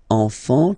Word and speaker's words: enfant: You don't pronounce the S.